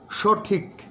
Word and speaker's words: সঠিক: যেমন সঠিক, কয়ের মধ্যে আবার একটা ছোট্ট ধাক্কা আছে।